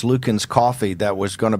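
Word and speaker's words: Luckin: the Starbucks of China I think it's pronounced Lukens coffee that was going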